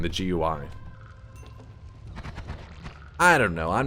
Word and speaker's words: GUI: what it means uh would be more likely to pronounce it gui because it's an acronym and it is correct